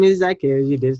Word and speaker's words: Zaakirah: Yeah, so my name is Zaakirah, you did say it right.